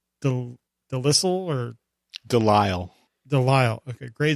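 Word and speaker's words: Grey DeLisle: then we also have um gray can never pronounce her last name delissel or delisle delisle okay gray de lyle who was the voice of rc in the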